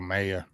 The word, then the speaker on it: Mayer: really like Michael uh Michael Meyer or Michael May or whatever you say his name Michael Mayer yeah I wouldn't be surprised